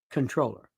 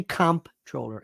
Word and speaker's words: comptroller: By the way, it's spelled comptroller. It is pronounced controller. Don't say comptroller ever. So this Inability Committee is the city controller, city council speaker, a deputy mayor.